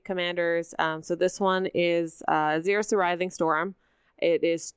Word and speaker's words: Xyris: There's no way for us to know how to pronounce this. It's Xyris or Xyris or Xyris or... It's Xyris.